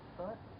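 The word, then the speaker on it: Tết: Well, Tet, it's a holiday.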